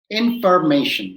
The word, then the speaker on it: information: please pronounce it slowly he pronounces it slowly in fur may shun you start off by pronouncing shen you write the first syllable for you to practice nation formation formation formation and then you go information this is the easiest